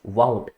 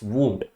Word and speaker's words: wound: That is pronounced बाउंड, लेकिन जब हम WOUND लिखते हैं that is not pronounced वाउंड, इट्स वूंड। तो प्रोनाउंसिएशन चेंज हो सकती